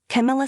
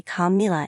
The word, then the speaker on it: Camila: Camila slammed after hearing the country star say Camila instead of Camila.